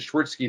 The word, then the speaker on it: Schwirzke: Well, usually I guess my last name I pronounce it Schwirzke these days because it's just over the years it just takes too much time to explain it, especially with already.